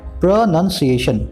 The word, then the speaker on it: pronunciation: है अब स्क्रीन पर देख रहे हैं आप प्रनंसीएशन प्रनंसीएशन अब आपके पास तीन वर्ष है नाउन